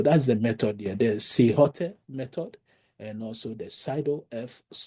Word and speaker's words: silhouette: And those method is one is called a SILHOTE. Sometimes the pronunciation is SILHOUETTE.